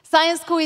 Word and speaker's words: Syensqo: Syensqo? This is how we pronounce it, so think science. Syensqo is one of the